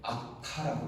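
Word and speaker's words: אך: 이 만이라고 하는 것을 히브리어로는 어떻게 발음하느냐면 아카라고 해요. 아카.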